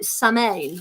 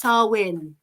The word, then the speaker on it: Samhain: about sarwin and and it doesn't look like sarwin and as a dyslexic I can tell you I usually pronounce it samay or something like that because it looks like samane but it's sarwin sarwin so there you go